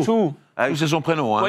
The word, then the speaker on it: Zhou: Voilà, mais je croyais qu'on disait Zhou, mais pas du tout. Non, Chou.